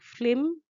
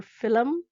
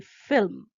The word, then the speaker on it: film: make it sound like flim or film, which is wrong, which should be film. F-I-L-M, film. The L is after the I and before the M.